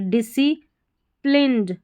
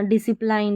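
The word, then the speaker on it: disciplined: डी आई डी एस ई आई को सी पढ़ेंगे डिसी प्लिंड डिसिप्लिंड पी एल आई एन ई डी प्लिंड ठीक है यहां पर प्लाइंड नहीं पढ़ना डिसिप्लाइंड नहीं डिसिप्लिंड एंड क्यूरियस सी यू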